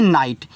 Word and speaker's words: night: NIGHT इसको पढ़ते हैं नाइट, क्योंकि देखो IGHT को हम पढ़ते हैं आइट।